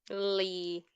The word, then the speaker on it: Lea: sure maybe maybe Axl Lee yeah it's confusing he's Lee but its spell spell Lia but he say my name is Lee it's Lia yeah yeah he's weird